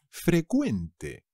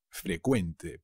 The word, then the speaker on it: frecuente: frecuente en is one pero cuidado se dice frecuente frecuente pero la cv inglesa se convierte en una ce que se pronuncia como una k ave frecuente los impuestos